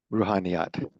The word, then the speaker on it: Ruhaniyat: How do you say that, Wakil? Ruhaniyat.